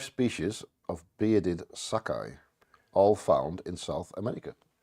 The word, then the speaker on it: saki: One of 5 species of bearded sakai, all found in South America. You pronounce it as Sakai. Sakai, I think so. Sakai. Could be. Not Saki. Sakai. Uta Hicks Bearded Sakai.